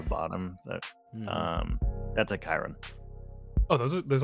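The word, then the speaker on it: chyron: it and it's pronounced Chiron Chiron Kanye like the Centaur like the Romans 300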